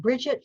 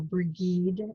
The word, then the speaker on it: Brigid: So we have Brigid from the Celtic land, or Brigid, you can say her name either way.